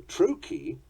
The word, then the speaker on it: trochee: The trochee is a backwards I am, a falling rhythm. Tumti, trochee.